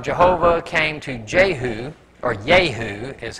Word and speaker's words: Jehu: the word of jehovah came to Jehu or yahoo is how that's actually pronounced which sounds funny in our language son